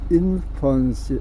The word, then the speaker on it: infancy: in infancy, 요거 발음할 때는 infancy, F 발음입니다.